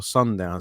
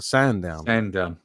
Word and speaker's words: Sandown: So this weekend we are off to, I'm going to say it wrong, but I think is it Sandown or Sundown? Sandown.